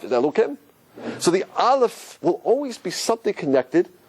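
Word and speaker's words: אלף: of hummus on dirt listen how I pronounce now did you hear it there's no sound it's connected with something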